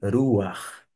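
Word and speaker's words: רוּחַ: um patá furtivo você vai pronunciar o a som do a da vogal primeiro e por fim a que no caso aqui é um ret e é um som de um um r n mais arrastado digamos assim e daí você tem ver ruar e o sopro ou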